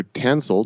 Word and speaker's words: Tansil: on the entheogenic evolution podcast I welcoming tansel did I pronounce that correctly nailed it okay I should